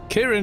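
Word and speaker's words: Ciarán: Kieran if it's Irish. Because C-I is Kier.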